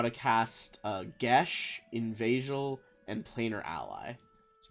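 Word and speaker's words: geis: Also, I didn't know it was called Gesh for fucking years. Yeah, I always thought it was chaos. I think it's like a Irish word or something, but apparently the real pronunciation is Gesh.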